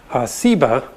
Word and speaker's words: Seba: think is related that has just a different S sound, Seba.